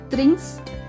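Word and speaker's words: trinkst: Next त्रिंकन, त्रिंकन means to ड्रिंक, इश त्रिंक ए ending है, दू त्रिंक्स दू त्रिंक्स प्रोनाउंसिएशन देखिए त्रिंक्स एरजियस त्रिंक ट नहीं बोलना है त बोलना है, वियर त्रिंकन ईयर त्रिंक जी उन जी त्रिंकन, ठीक है।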